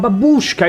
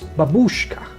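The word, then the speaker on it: бабушка: But babushka is wrong. More correct is babushka. Babushka. Okay, here is the thing. Tiny banana. I've been so used to call babushka even though the correct pronunci will be babushka.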